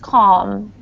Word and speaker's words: calm: cal cal cal okay it's a tough word to pronounce because um the l and m are together but it's just calm Cal very good okay